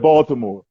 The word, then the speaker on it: Baltimore: And notice how I say Baltimore. We all don't talk like that. I didn't say Baltimore. I said Baltimore. You Thank you. I said know how with to the T, pronounce not the D.